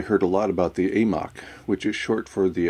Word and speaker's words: AMOC: a lot about the amok which is short for the Atlantic marional overturning current based on my awkward pronunciation of the Atlantic meridional overturning current you can understand why I prefer the acronym amok with this video I